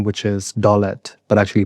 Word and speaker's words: Dolat: and then my son name, which is Dolat, but actually pronounced Dolat, translates to like wealth in Hindi.